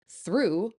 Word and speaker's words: through: Though rhymes with go, through rhymes with blue, and tough rhymes with stuff.